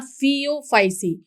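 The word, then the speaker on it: Phaeophyceae: यहाँ फियोफाइसी pronunciation देखिए फ, और यहाँ पे फ्यू, इस तरीके से आप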